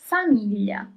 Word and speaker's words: famiglia: And the right pronunciation is famiglia, family.